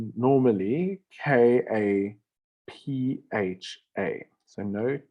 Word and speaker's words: Kapha: But it should be spelled normally Kapha. So no T there. So it's pronounced kapha or kapaha. Kapha or kapha.